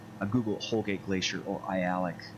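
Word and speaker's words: Aialik: google homegate glacier or i alec and i'll just pop up i alec right there for you so you can spell it um that's how you say it as i alec um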